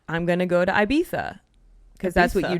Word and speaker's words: Ibiza: And they're like, it's not Ibiza, it's Ibiza.